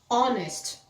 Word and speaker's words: honest: dessa forma por exemplo aqui a gente não pronuncia fica hour hour aqui também honest homem tá então eu sempre recomendo consulte um